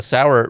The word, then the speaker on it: Sauer: So the sour route is spelled like s a u e r the acronym like sauerkraut because the idea is